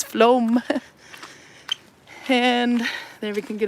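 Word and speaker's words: Flåm: the county and then there's floam floam is the closest one fla with a circle over it m if you want to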